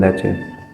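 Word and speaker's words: Lecce: सो how much monthly a student usually spend on food there in लेचे। अच्छा, city का नाम लेचे है, pronounce अपना ठीक करना, ठीक है तो फूड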